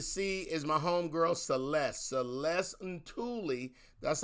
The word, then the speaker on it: Celeste Ntuli: you're about to see is my homegirl celeste celeste and tully that's how you say her name even though it's spelled n-t-u-l-i you'll see it um it's pronounced celeste and tully my wives i sound like uh i sound